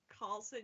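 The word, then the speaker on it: Carlsson: Leo's second name wrong Carlson Carlson Leo Carlson it's exactly like Eric Carlson oh just with a c instead of a k yeah and then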